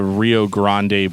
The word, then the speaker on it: Rio Grande: so moving on to Rio Grande blood or Rio Grand blood depending on how you want to pronounce it God it's just the